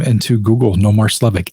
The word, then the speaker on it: Slevik: name into Google noar slovic sleev i k you spell it how it sounds and you'll find all